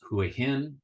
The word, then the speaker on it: Hua Hin: know how to pronounce Hui hin the way I think of it is Thailand is the land of smiles Hui hen is double happy two smiles so just think of that smiley mouth uh hen two smiley